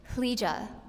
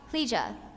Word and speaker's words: Leeja: Leeja, plee like glee, and ja, Leeja.